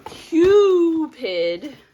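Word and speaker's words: Qupid: and these are from cupid cue accent on the cue oh so these are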